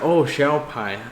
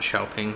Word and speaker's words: Xiao Pai: Yeah, Xiao Pai. Okay, so that's how it's pronounced, not Xiaoping.